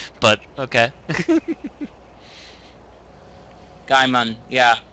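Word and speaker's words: Gaiman: an interview with him so pronunciation GE e i m n g EI I long a s it's G okay it's G long a is in base so it's gaim yeah it's Neil gimon I I've been right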